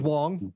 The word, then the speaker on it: Wong: I don't want to be disrespectful in pronouncing It's Judge Wong, and she is often Wong.